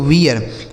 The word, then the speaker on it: wear: ठीक है, WEAR, तो W से हो गया दोस्तों वाह, इस EA का उच्चारण ईया, आर से हो गया रा, यह लिखा गया दोस्तों वियर, WEAR लिखा गया है वियर।